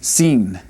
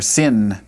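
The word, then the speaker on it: שׂין: Now, if we put the dot here, then it'd be seen. Seen or sin, some people say, but Sheen would be what we'd have over here.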